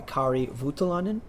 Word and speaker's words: Kari Voutilainen: and about the brand now being bought by Kari Voutilainen. Yes. Oh, I got it right. I got the Nice.